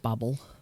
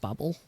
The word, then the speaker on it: Babel: agree that it's pronounced Babble I used to call it Babel not Babel I said Bagel but if you actually look at the original Japanese name for it it is pronounced Babble it's the start of